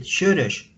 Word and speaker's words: Soros: It's my homeland, and in Hungary, they will pronounce it Sörös, Sörös.